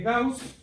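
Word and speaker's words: Gauß: tenemos el teorema de gaus verdad Esa letra que está ahí es una una letra del alemán verdad y y suena como dos s por eso ustedes lo pronuncian como gaus verdad pero se escribe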